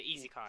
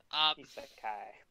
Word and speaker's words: isekai: Yeah, Isekai. Said it wrong. Isekai.